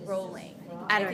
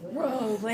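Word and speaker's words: Rowling: I say it wrong I think it's rolling she came out and was like it's rolling I think it's I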